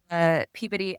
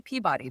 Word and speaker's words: Peabody: So they don't say Peabody, they say Peabody.